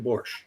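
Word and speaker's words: borscht: There's no T in Borch. Even if it's spelled with a T, it's not pronounced.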